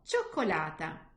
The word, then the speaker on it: cioccolata: But if the letter C is followed by the letters E and I, so E and I in Italian, then it will give me the sound ch, like chocolate.